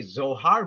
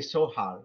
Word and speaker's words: Zohar: For example, in English we say Zohar, but you're German, you could confirm it. They say Zohar with the letter S. Yes? They would pronounce it like that most likely.